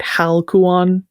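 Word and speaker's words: ἁλκυών: with what is called a smooth breathing mark which is the diiocritic that would indicate aluan versus a rough breathing mark which is would indicate hal kuan. It makes that age sound.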